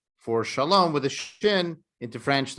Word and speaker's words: Chalom: One is my name is pronounced Shalom, like Chicago. It's actually meaning not Chalom, like a dream? No, it's actually the French spelling.